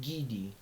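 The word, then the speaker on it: Ghede: The Haitian, the pronounced Gidi.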